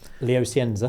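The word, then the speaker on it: Léo Scienza: like how do you say his name Leo Sienza.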